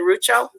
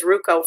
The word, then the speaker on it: Rucho: the case that came, am I saying it right? Is it Rucho? Okay, I thought it was Ruco first, but anyway, so when